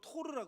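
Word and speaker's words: תור: 최근에 어떤 학자가 이 비둘기라고 하는 게 보면은 이 산비둘기랑 집비둘기로 오늘 기록되어 있는데 이 산비둘기는 히브리어로 토르라 그래요. 토르. 여러분 그 마블에 나오는 토르 아시죠? 똑같아요. 발음이 토르예요. 그리고 여러분 집비둘기는 여러분이 아는 단어예요.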